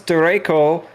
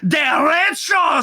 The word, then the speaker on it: Derecho: It is the Des Moines Derecho.